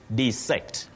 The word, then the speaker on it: dissect: or Masa of Kit you say dissect to dissect you can also say disect desect and dissect are alternatives for that word Enoch Maya en you